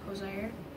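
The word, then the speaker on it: Hozier: Kind of like Hosier, but it's Hosea.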